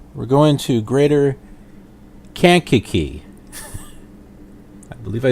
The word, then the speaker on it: Kankakee: And I looked at a couple of sources and pretty much got the same thing of where they were saying Kankakee.